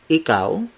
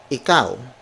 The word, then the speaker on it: ikaw: so in Filipino that would be my booty ikaw my booty ikaw my booty he cow so